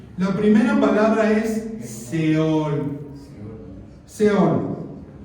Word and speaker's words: Sheol: Seol. Y se pronuncia más o menos Sheol.